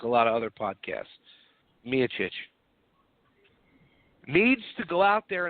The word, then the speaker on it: Miocic: was steep a Miocic excuse me me a Chooch I'm going to say his name right unlike a lot of other podcasts me a Chooch needs to go out